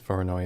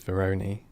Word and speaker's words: Voronoi: I remember when I used to pronounce Voronoi as Veroni.